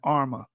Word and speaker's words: Arma: Shanghai people pronounce al-Ruma as Arma, and this became the term used to describe Moroccan ruling classes.